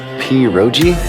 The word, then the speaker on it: pierogi: Pierogi? Did I pronounce that right?